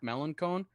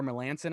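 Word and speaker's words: Mark Melancon: a few big names mark mellencone like or melanson i think is actually how it's pronounced yeah like there's a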